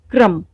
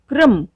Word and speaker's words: क्रम: दूसरी बात, जिस व्यंजन के पैरों में पदेन र लगा हुआ होता है, इसका उच्चारण उस व्यंजन से बाद में होता है। जैसे देखते हैं कुछ उदाहरण। क्रम, आप यहाँ देख रहे